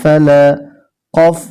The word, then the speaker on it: ফালাক্ব: ফা লাম জবর লা ফালা কফ জের ই ফালাকি ফালাকি যখন আমরা এখানে থেমে যাব উচ্চারণটা হবে ফালাক দেখুন কফে একটি তীর চিহ্ন আছে এই চিহ্ন থাকার কারণে আমরা হরফকে কলকলা করে পড়তে হবে এবার সেকেন্ড